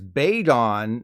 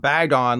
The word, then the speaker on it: Bagon: with slicked back hair is Bagon not Bagon like Bagel as jarring as it